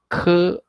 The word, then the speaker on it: 口: and we just write like this in the pronunciation again let's read it cool Oh Co Co Co Co Co Co and